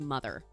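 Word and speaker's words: MOTHXR: It's M O T HXR, but it's pronounced mother.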